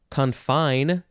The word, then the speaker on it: confine: it makes sense now second form is confine gotta emphasize the second syllable it is a verb